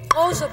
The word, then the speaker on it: Xhosa: sound that you hear and that I'm making is the way the Xhosa people in South Africa pronounce an X.